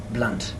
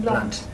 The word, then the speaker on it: Blunt: My name is pronounced Blunt. Yeah. And there's an O on it. but even with the O, it's still pronounced Blunt. Still the same pronunciation, Blunt.